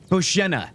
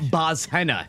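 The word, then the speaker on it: Bozhena: Boshena. That's how you pronounce it, not Bozhenna.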